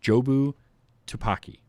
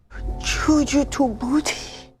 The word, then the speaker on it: Jobu Tupaki: So here's one of Evelyn's mispronunciations of Jobu Tupaki. That's what she's trying to say here. Juju to booty. Choo-choo to booty.